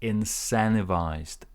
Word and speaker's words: incentivized: not an easy word so you cancel the T and you put your stress on the second syllable here incentivized incentivized we incentivized people to